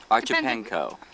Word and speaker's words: Archipenko: Archipenko. Brant Mewborn and Rhonda Mewborn. How would you pronounce Archipenko?